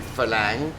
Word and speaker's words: farang: of like, It's okay, because he was very, very drunk, very, very falang. Yeah. You need to translate that. Oh, I that's guess. farang is like, how do you say farang? Falang, fucking Westerner.